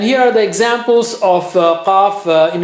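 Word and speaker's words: ق: Don't say ka and don't say kha. Kha is not, kha is different, qa is different, ka is different.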